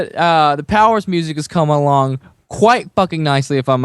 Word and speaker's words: PWRS: just so you know it's pwrs we're goingon to be called Powers but it's spelled PW wrs that's how spelled it's without the vows okay but Ray man